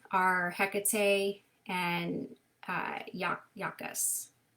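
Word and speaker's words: Iacchus: And her attendants are Hecate and, uh, Yak Yakus. It's I A C C H U S. That one is uh tricky to pronounce.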